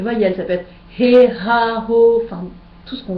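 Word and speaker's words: הַ: Et donc vous reconnaissez à la ligne suivante Ha, la lettre He en début de mot qui se prononce Ha et qui veut dire le.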